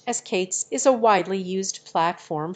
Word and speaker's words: k8s: Keith's pronounced as Kate's is a widely used platform for container orchestration